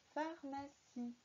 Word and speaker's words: pharmacie: Pharmacie, avec un E muet à la fin.